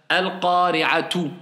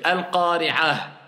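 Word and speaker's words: القارعة: Eh bien, quand j'ai le ta comme ça, je dis hasibah, al-qari'atu. Normalement, c'est comme ça, mais je dis al-qari'ah.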